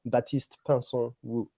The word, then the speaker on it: Baptiste Pinson Wu: The correct pronunciation for everyone who wants to know is Baptiste Pinson Wu. Right. Which part did I mess up? The Pinson? My family name Pinson was a bit off.